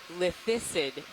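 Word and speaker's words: lithistid: And while we're looking at the spot lobster, evidently the correct pronunciation of the rock sponge is lithicid. Lithicid. I can't pronounce it.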